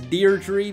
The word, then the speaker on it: Deirdre: And they are pronouncing the hard R in her name, so it's Deirdre, but I don't know, I kind of like Deirdre more with the silent R.